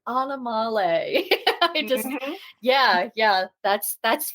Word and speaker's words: Animale: Sanctuary is actually the the pronunciation for the word animal so could you say it for our listeners it's pronounced anamal Sanctuary anamal yeah that for some